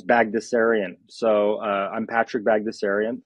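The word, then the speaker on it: Baghdasarian: letters in it but it's actually relatively simple to pronounce it's bagdasarian so uh I'm Patrick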